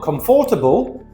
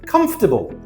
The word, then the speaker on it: comfortable: Remember, it's not comfortable. Four syllables. It's comfortable. Three syllables.